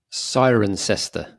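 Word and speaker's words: Cirencester: our friend Leon Walker how do you pronounce the club siren sester yeah you wouldn't think that looking at it would you yeah it's one of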